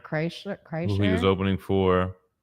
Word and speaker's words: Kreischer: Krishner. Kreischer.